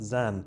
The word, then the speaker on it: Xen: We hope you'll love the comfort the the comfort um and you'll love your the comfort and support of the Zen pronounced Zen, but you can't spell comfort right.